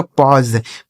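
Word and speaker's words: pause: इस ए और यू का उच्चारण अ हो गया एस ई से ज। इसे पढ़ा जाएगा पॉज।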